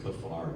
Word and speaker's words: Capernaum: was a right so we get to Capernaum as modern pronunciation but the original uh pronunciation was probably kafar not only Tiberius town